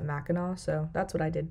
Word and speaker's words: Mackinac: It's spelled with a C at the end, but everyone pronounces it Mackinac, so that's what I did too.